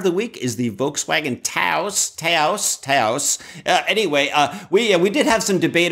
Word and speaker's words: Taos: in New Mexico, and it's supposed to be pronounced like house, right? So it's a Volkswagen Taos.